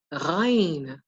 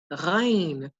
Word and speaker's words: Ghain: On to the next, another letter that is not familiar to English, but the sound is familiar to anyone who gargles. It is called Ghain. Ghain. So do this as if you are gargling. Ra, ra, ra. That's the sound that you produce when you say this letter.